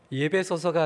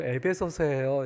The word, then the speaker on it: 에베소서: 목사님, 예배소서가 아니고 에베소서예요. 이렇게 얘기를 하세요. 제가 이게 발음이 잘 안 됐던 것 같습니다.